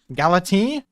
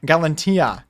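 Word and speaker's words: Galatea: Galantia. I said it wrong. I said Galati, and it's Galantia.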